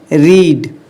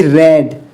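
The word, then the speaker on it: read: Second form है इसकी रेड। Third form है इसकी रेड। अब देखिए इसका ना स्पेलिंग सारे जगह सेम है तीनों जगह। लेकिन इसको हम रेड पढ़ रहे हैं।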